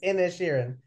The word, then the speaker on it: Inisherin: It's Inisherin.